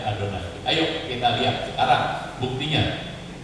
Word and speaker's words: Adonai: itu S disangkal karena waktu mengucapkan Yehova itu seperti mengucapkan adonai karena itu asalnya kata tadi kata yahovah itu dari huruf-huruf hidup yang EE yang ada di adonai jelas jelas nah jadi waktu orang menulut yahovah itu tidak terlalu ke nama sucinya benar yahwi gitu sehingga itu masih oke gitu ya padahal Memang harusnya ya adonai aja bacanya tapi begitu orang melihat